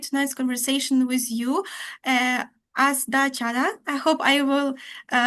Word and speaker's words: Astha Chadha: Uh, Astha Chadha. I hope I will pronounce it better, maybe, but I hope it is fine. The pronunciation is Perfectly fine. fine. Astha Chadha.